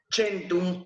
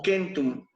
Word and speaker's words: centum: Ya sea que digan, por ejemplo, centum se pronuncia centum o kentum, ¿ok?